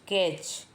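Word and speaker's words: catch: ए टी सी एच कैच यहां पर T silent है कैच मतलब पकड़ना सेंटेंस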